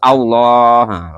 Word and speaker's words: Allah: panjang memang bacanya Ya terus Allah lamnya itu panjangin Heeh lah kedudukan lam